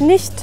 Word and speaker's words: nicht: Y en nicht, como la CH está después de una I, se pronuncia como una J sonriente.